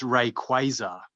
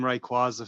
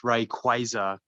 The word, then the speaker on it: Rayquaza: found that recently it's rayquaza no way yeah i found out recently too i've been calling him rayquaza for years but it's rayquaza as in quasar there's quasars in space